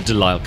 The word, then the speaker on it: De Lisle: I've rarely used the delile carbine yes that's how it's pronounced it's an English gun but I recently